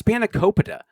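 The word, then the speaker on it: spanakopita: And you know, he's not even pronouncing the food correctly. Oh, with the spanicopa. Yeah, it's spanicopa.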